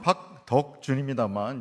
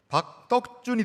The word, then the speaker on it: 박덕준: 물론 박 덕준입니다만. 예. 여러분 발음을 잘못하시면 박떡준이 되죠. 예. 저는 박 발음 받은 거의 못 봤습니다. 이게 한글이 뭐 어쩔 수 없잖아요. 박 떡준이죠.